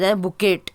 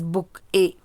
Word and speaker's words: bouquet: collective nouns example i gave my mother a bouquet of flowers children it's bouquet some children pronounce it a book it it's not bukkit it's bokeh spelling is b-o-u-q-u-e-t but we pronounce it as book a have i have lost the bunch of keys